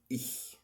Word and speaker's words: ich: كلمه انا في الجيرمان هي بتبقى اسمها ich ich ich. تاني ich، لان احيانا بتنطق النطق بيبقى غلط، بتبقى ايش نو نو. مفيش حد يقول ايش في الالماني دي خالص.